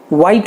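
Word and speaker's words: white: व्हेन, वेयर, weather, वाइल, तो टू my surprise also इनमें एच नहीं प्रोनाउंस किया जाता, सो it should be वॉट, वेयर, व्हेन, school, वाइल, वाइट, वाइट में भी ह नहीं बोला जाता, वाइट, वेदर।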